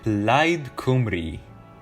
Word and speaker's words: Plaid Cymru: Next party we'll talk about is Plaid Cymru. Trust me, that's how it's fucking pronounced.